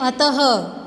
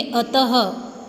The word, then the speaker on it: अतः: विसर्ग, इसका उच्चारण ह के जैसा ही होता है। इसका चिन्ह इस तरह से है, यह स्वर के पीछे लगाया जाता है, जैसे अतः। अब ह नहीं लिखा हुआ यहाँ पे, लेकिन जो ये दो बिंदु का प्रयोग किया गया है, विसर्ग का प्रयोग किया गया है, इसको हम ह के उच्चारण से बोलेंगे अतः, प्रातः, दुख, पुनः।